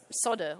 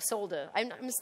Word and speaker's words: solder: And um then you get to solder or solder. I'm I'm British and I say solder because it has an L in there, but apparently according to Americans it's solder.